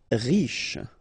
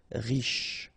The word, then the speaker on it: Riche: Riche. Final not really pronounced, so sh is the last sound. Riche.